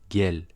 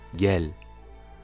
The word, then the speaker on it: gel: Le G qui se prononce g, comme dans l'exemple suivant avec l'impératif du verbe venir en turc, c'est gelmek, donc ce sera gel, viens, gel.